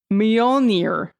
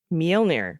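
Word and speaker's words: Mjölnir: And then the I is pronounced like the one in ski. Okay, great. So, oh God, the best I can render it without the international phonetic alphabet is Mjolnir. Mjolnir.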